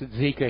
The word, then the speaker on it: Zika: It's pronounced Zika here.